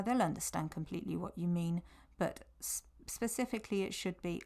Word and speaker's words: mi: me here it's not my the E the I in Spanish is pronounced as an e so it's me my mot letter if